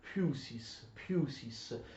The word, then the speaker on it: physis: Noi convenzionalmente, ma arbitrariamente, pronunciamo la lettera P, la lettera Φ, che è un P aspirato, la pronunciamo come F, ma in realtà è scorretto. Fusis, allora la fusis in greco natura si dice fusis.